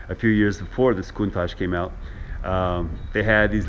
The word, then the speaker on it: Countach: This car is pronounced Countach. Some dialects, Countach. Okay, but Countach is the general preferred way to say it.